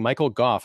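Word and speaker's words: Michael Gough: He kept saying Michael Goff.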